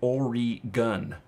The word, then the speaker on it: Oregon: know and we pronounce it orig gun you know it's like Orie gun you know and so um you know we would know when somebody maybe doesn't really live there based on how it's pronounced and that is something